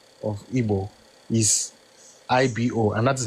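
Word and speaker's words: Igbo: Even then your people will call it IO but they will write it like the British as IBO but the pronunciation is Ebo.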